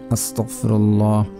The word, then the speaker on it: আস্তাগফিরুল্লাহ: আপনারা এইভাবে পড়বেন আস্তাগফিরুল্লাহ, আস্তাগফিরুল্লাহ, আস্তাগফিরুল্লাহ, আস্তাগফিরুল্লাহ। অনেকে পড়ে আস্তাগফিরুল্লাহ, আস্তাগফিরুল্লাহ। এভাবে পড়লে কাজ হবে না, কারণ এখানে উচ্চারণ ভুল হচ্ছে।